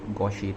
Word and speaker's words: gouache: So hello everyone, today I'm going to demonstrate how to make ink with your gouache paints or gouache paints if you would like to pronounce it that way.